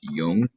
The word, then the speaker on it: Jung: that another psychodynamic psychologist carl jung um j-u-n-g is pronounced young and he had this